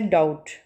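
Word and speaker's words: doubt: Underline करेंगे next है डाउट डाउट डाउट में बी बी साइलेंट है। ठीक है? इसको अंडरलाइन करेंगे। डाउट बी बी अंडरलाइन किया। साइलेंट लेटर है। ठीक है? बी की साउंड प्रोनाउंस नहीं करेंगे।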